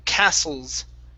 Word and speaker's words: castles: Okay, in this word here, the T is silent. Castles, castles.